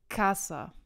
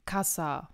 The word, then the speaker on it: casa: das heißt sie haben ca und SA das heißt man würde das da trennen Casa das weiß man sagt Casa also die Betonung ist auf der ersten Silbe bzw auf der vorletzten Silbe und so die letzte wäre SAT vorletzte folglich ca man sagt ja nicht Casa na das wäre falsch dann gehen wir zu